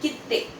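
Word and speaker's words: きって: भी आप सुनेंगे, खिप्पू, कित्ते, जाशी, एक हल्का सा स्लाइट पॉज आ रहा है, राइट। स्ट्रेट बोलेंगे तो कीते, कीते रॉन्ग है, कीते मतलब की और ते, वेरएज कित्ते मतलब की ते, कित्ते, राइट।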